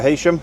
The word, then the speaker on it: Heysham: Heading up for Heysham, or Heysham, as I've been told, although it's spelt Heysham, pronounced Heysham apparently.